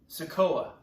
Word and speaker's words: Sikoa: Sikoa. Solo Sikoa. I believe that's how you pronounce it.